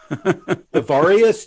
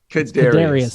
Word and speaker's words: Kadarius: Casey I'll give you credit if you pronounce his first name. Avarius? No, hold on. Hold on. This is an amazing quiz. All right, listen, why don't you think that over, Kadrina? Kadarius.